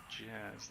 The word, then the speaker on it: D-Jazz: Also, the D in D-Jazz is silent, so it's just called Jazz, like Degen.